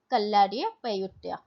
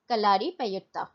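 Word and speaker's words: Kalaripayattu: Gatka, Thangta, मलखंबा एंड कल्लारी पयुत्ता. ठीक है, कलारी पयुत्ता, पयात्तू, sorry I एम so sorry for the pronunciation, कलारी पयात्तू.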